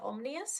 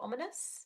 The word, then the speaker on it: ominous: made fun of because i said omnius instead of ominous and i'm like [